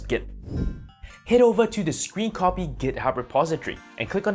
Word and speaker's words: scrcpy: Pronounced Scrcpy, this free and open source program by Genymotion requires only a USB cable and software installation on your PC.